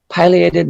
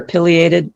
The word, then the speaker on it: pileated: And here's comparing a flicker to a pileated woodpecker, or pileated. People pronounce them both ways.